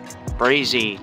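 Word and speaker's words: Brazie: you I'm over here at the uh brazy Town Park it's spelled b-r-a-z-i-e and it's in Utica and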